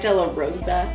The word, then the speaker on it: De La Rosa: I like how you say it, say because most people are like De La Rosa. It's like, Rosa. no, it's De La Rosa. De La Rosa. You gotta roll the R, okay?